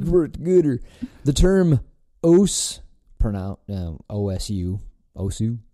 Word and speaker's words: OSU: The term OSU. Pronounced os, is Japanese.